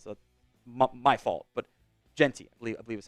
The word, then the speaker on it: Jeanty: Previous videos I was definitely saying Jeanty, but I think today I was saying Jeanty, which I believe is how it is supposed to be. So that was on me for not looking up the pronunciation and seeing Gene and thinking that's how it was pronounced.